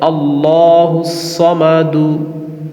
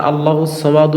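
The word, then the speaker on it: ٱللَّهُ ٱلصَّمَدُ: দাল পেশ দু তাহলে আল্লাহুস সামাদু কিন্তু আমরা আল্লাহুস সামাদু বলবো না বলব আল্লাহুস সামাদ উপরে সাকিন দিব জজম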